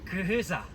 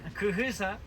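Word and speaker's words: quyquyhysa: Kujisa. Kujisa, ya les dicto cómo se escribe. Kujisa es como se le llama al algodón en lengua muisca.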